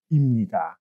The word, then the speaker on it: 입니다: It's written as 입니다, but it's pronounced as imnida.